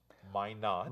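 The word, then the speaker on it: Minot: this place and uh that's pronounced my not my not yes that's how the crew pronounce it at least and I'm trying to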